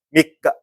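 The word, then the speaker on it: 三日: 산니치가 아니라 밑가, 밑가. 3일 동안 할 때는 산니치강, 아니면 밑가강 이를 쓰고, 달력상의 1월 3일, 9월 3일 할 때는 밑가라고 읽으셔야 됩니다.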